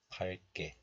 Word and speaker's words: 밝게: This letter is pronounced as 박 in isolation, but when this letter is used together with another letter, then the hidden 리을 sound regains its value. So it is pronounced as 발. I also think that you better memorize this pronunciation.